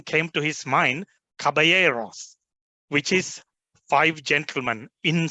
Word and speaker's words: Caballeros: of Los Cabaret Ross the the right word is Caballeros but in Sri Lanka because it is spelled with a couple of else that is how Spanish write it uh we we call it Caballeros so that was the